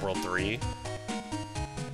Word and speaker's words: WWW: In the anime, it's pronounced World 3.